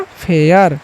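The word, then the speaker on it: fair: जब भी लास्ट में ए आई आर रहेगा ना तो उसको पढ़ लेना है एयर। क्या पढ़ लेना है? एयर। उसी तरीके से इसको हम पढ़ते हैं। ए से तो फ पढ़ लिए हैं। और एयर तो हो गया फेयर।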